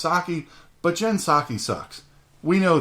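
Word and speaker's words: Psaki: him lie about everything jenn pasake her name is pronounced sake but jensaki sucks we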